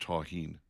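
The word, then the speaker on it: tahini: I'm being told by the way by our texters that it's pronounced ta-heen.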